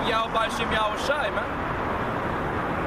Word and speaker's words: Yahweh: Now, when you go into the Hebrew, you find out that the name of the Most High is Yahweh.